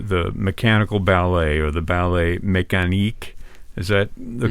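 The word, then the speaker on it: Ballet mécanique: work is the the mechanical ballet or the ballet mechan is that the correct pronunciation yes absolutely yeah um which uses I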